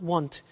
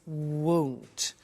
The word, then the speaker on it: won't: It's not want, it's won't.